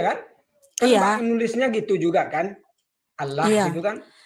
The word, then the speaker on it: Allah: Allah gitu kan. Iya, makanya kami baca Allah bukan Allah. Kami bukan kami membacanya bukan Allah, tapi jadi ada lam ada lam di sana. Lam itu pakai tasdid.